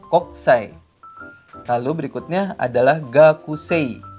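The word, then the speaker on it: 国際: Lalu ada lagi kokusai, dibacanya koksai.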